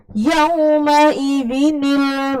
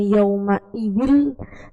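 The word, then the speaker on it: يومئذٍ: Coba bacalah Yauma idzinil masaq bersama. Itu ada nun kecil di bawah, maka bacanya bukan yauma idzil tapi yauma idzinil.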